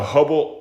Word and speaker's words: Hubble: what here's Ho Gaya hu b b l e hubble rhymes with bubble okay and so the